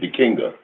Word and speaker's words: Dikenga: Dekinga is spelled Dikenga. Dekinga.